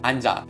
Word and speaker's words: 앉아: combined with nyan and chip this word is pronounced I'm job since that you in the second letter is